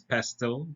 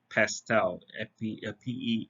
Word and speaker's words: PESTLE: Now, um, the order in which we described is, it's spelled as pestle, but you can also say it as pestel, Pestel.